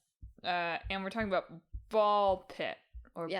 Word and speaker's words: BALL x PIT: Uh and we're talking about ball pit or ball x pit. The x is silent.